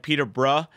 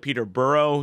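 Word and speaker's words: Peterborough: wrong um English um people have a different way of pronouncing like city names for instance or team names like Peter bruh you know instead of Peter burrow you know stuff like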